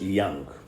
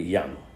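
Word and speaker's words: Jung: have heard this name j-u-n-g it's pronounced young okay young so psychoanalyticalism are young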